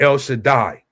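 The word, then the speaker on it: El Shaddai: the Allah Shadaya in the Hebrew or in the modern Hebrew you would say uh the El Shadai that's how you say it in the modern Hebrew the word that I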